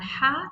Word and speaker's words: ح: it is different because it is pronounced forcibly from the throat as ha, ha. It's not ha.